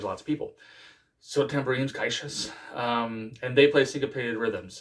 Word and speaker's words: caixa: middle register, and they're played by drums like caixa drums, it's spelled Caixa, and they look like marching snares, but like the snare is like on the outside.